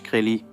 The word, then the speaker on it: Shkreli: Et est-ce que ça se prononce Chrellie ?